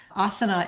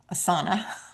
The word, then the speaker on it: Asana: Asa is a great product. Asana, I always want to call it asa because I'm a yoga teacher. But asana, which is spelled the same way, is a great product.